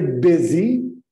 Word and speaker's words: busy: Ok, I'm very busy. Tens uma pronúncia? Busy. B. Escreve-se com U, mas lê-se B.